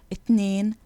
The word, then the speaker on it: اتنين: The letter th is never ever pronounced th in Egyptian dialect. In fact, most Egyptians will struggle to pronounce the th even when they're speaking Fusha. So the th becomes one of two things. In some words, it becomes a t, as in the numbers اتنين, تلاتة, تمانية.